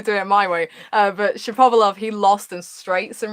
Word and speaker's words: Shapovalov: Denis Shapovalov, I'm gonna do it the way I say his name, okay? Denis Shapovalov, which is apparently the correct way. A lot of people are going with Shapovalov. I guess it depends whether you're American.